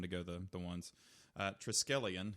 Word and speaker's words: triskelion: go the ones uh triskelion is the name of it not triscoli and i thought it